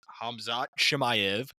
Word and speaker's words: Khamzat Chimaev: And for our main event, as you just heard, we have Draco Duples versus Hamzot Shimayv.